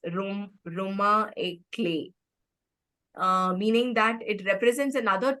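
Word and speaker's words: roman à clef: So again, this is a French word which is pronounced as Roma et clé, meaning that it represents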